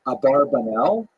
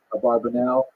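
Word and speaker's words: Abravanel: I'm following nany here probably correct is Abra vanel that's probably how he pronounced it more or less with my Canadian accent his years are 1437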